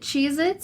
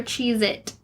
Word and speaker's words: Cheez-It: Alright, is it Cheez-Its or Cheez-It? It's. No. No? It's Cheez-It.